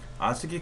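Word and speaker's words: ASCII: 아스키 코드는 아스키라고 읽어요. 그냥 콩글리시로.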